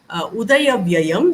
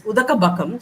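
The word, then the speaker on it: udayabbaya: gets very upset because the student has mispronounced the sanskrit the pali word instead of saying udayabhyayam which means the beginning and ending of things the student mistakenly says udaka bhakam so the kabakam is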